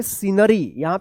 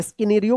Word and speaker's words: scenario: SCENERY क्या पढ़ेंगे सीनरी, यहाँ पे भी सी साइलेंट रहेगा। SCENIC क्या पढ़ेंगे सीनिक, सीनिक पढ़ेंगे, क्या पढ़ेंगे सीनिक। SCENARIO क्या पढ़ेंगे सीनेरियो, सीनेरियो पढ़ेंगे, स्किनेरियो मत पढ़िएगा।